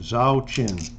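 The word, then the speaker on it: Zauchin: boston is norm zakin i'll spell it z-a-u-c-h-i-n zhao chin he batted two 264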